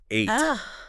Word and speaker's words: ate: No, yesterday I ate. Like the number 8.